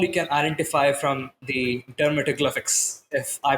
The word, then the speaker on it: dermatoglyphics: Tell us more about what all you can identify from the dermatoglyphics, if I pronounce that correct this time.